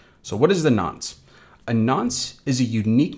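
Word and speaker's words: nonce: on from that we have this n nce pronounced nons so what is the nons a nons is a unique number that is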